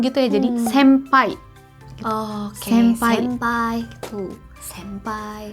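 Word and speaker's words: 先輩: m gitu ya jadi sampai Oh Ken finpay two senpai sesosok Jadi bukan senpai uh bukan juga seng paint tapi sampai nah teman-teman helm wes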